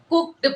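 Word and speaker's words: cooked: होता है, अब ये कुक्ड कहाँ से आ गया। एक्चुअली हम गलत प्रोनाउंस करते हैं, इसे कुक्ड पढ़ते हैं, ना कि कुक्ड।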